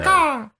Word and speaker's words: Kaká: How do you say it? Kaka? I like to say Kaká. I'd say caca, but I don't really know. Kaká! You know, like a bird.